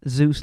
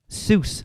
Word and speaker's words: Seuss: and then we'll be back to finish off Zeus Landing Seuss Landing sorry Jeff Ro Zeus is Seuss I've